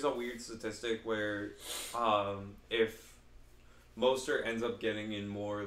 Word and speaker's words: Mostert: But is he'll how do you say Mosert? Yeah, Mostert.